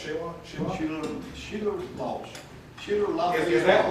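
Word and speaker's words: Shela: And then your grandfather, is it pronounced Sheila? Sheila Loss.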